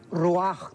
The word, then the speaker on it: ruach: recogido a su pueblo la palabra espíritu es ruach que se pronuncia raj también entonces etimológicamente que es el estudio de